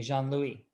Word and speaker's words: Jean-Louis: So it's Jean-Louis. Jean-Louis. Jean-Louis. Jean-Louis. Juan Luis in Espanol. Okay, Jean-Louis. Yeah, you got it.